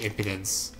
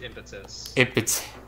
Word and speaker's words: impetus: Yeah, I don't think I need Hasten Strike, because she has parry and also charge impotence. Yeah. Charge plus, impotence. Isn't that how you pronounce it? Charged impetus.